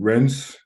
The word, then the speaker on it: Rennes: Shakhtar Donetsk taking on Rennes. Is that how you even pronounce their name? Yeah, Rennes. Ren.